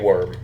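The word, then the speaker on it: wyrm: is like hand scrawled that says the great worm it's spelled w-y-r-m we should probably go to tent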